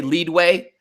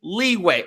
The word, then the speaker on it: leeway: leeway that's when Oh sometimes I'll say lead way I'm like we all know there's no such thing as lead way we all know I'm saying leeway like calm damn but